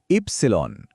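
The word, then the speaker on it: Ypsilon: নামটা কি? ইবসেলন। চলুন আরেকবার বলি। ইবসিলন।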